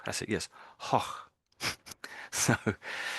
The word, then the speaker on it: Gogh: So it's more like hoch, hoch. That's it. Yes, hoch. So it's a G, but they pronounce it as like that, more like the way the Spanish pronounce the J, I suppose, if you're any good at Spanish.